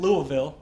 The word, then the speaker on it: Louisville: And I was in Louisville.